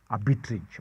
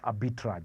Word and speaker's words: arbitrage: saying is an arbitrage a bit rich or some individuals prefer to pronounce it as a bit raj it depends on how you've actually been taught now that is a